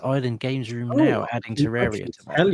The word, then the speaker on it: Terraria: Terra, Ter, Terraria. Terraria. Terraria. Terraria. Like a Terrarium.